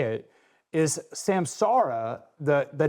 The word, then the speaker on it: Samsara: I I've done the same thing, but it is Samsara.